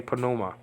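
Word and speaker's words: πνεῦμα: the word for Spirit panuma and so this is always pronounced always pronounce the p in Greek um the English words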